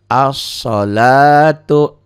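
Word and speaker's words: الصلاة: Tulisannya al. Dibacanya nggak ada L-nya. As-salatu.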